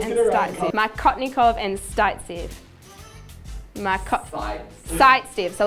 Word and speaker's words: Saytzeff: Did I say it right? Markotnikov and Startsev. Sightsev. Damn. Okay.